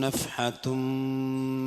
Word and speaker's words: نفحة: നഫ്ഹതും മിൻ അദാബി റബ്ബിക്, നഫ്ഹതുൻ എന്നല്ല, നഫ്ഹതും അവിടെ മീമിന് മണിക്കണം.